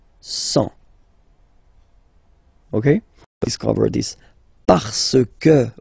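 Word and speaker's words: cent: Remember, final T not pronounced. 100.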